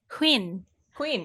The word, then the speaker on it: Huynh: Huynh. I said it was Huynh. Yeah, Huynh. Huynh. And how do you say it? Huynh is how you say it in Vietnamese.